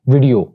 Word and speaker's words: video: नॉट वीडियो, it's actually वीडियो, इट्स a good वीडियो, यानी वी के बाद जो साउंड है वो शॉर्ट है, वीडियो।